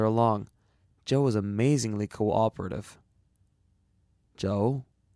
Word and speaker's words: Joe: "Joe?" "Spell it C-H-O-U if you want to be exotic. It's still pronounced Joe, and that's his name.